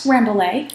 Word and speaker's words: Rambouillet: Rambouillet.